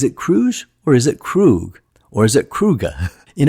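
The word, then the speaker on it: Kruge: It can go both ways, but I feel it mostly sounds like Krug. Commander Krug. Commander Krug. So, I'll go with Krug for this video.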